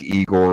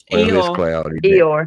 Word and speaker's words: Eeyore: Like Igor or whatever his name is. I always say it wrong. Not Igor. What's his name on Winnie the Pooh? Eeyore. Eeyore.